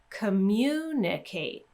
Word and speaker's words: communicate: to that one again communicate communication so again with the ate ending we're going two syllables before and then with the tion ending we're going to stress the syllable right before that Tio n if you want extra